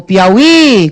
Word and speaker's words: Piauí: Você chamou Piauí, qual é a sílaba tônica do Piauí? É o I lá no final, não é isso?